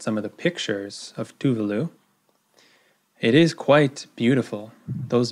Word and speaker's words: Tuvalu: informed reading so it does seem to be tuvalu tuvalu so this is another Pacific island so